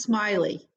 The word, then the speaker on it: Smiley: your last name oh my last name is pronounced smiley smiley so i'm like i